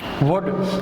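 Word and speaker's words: would: इसमें एल जो है ये आपका साइलेंट है।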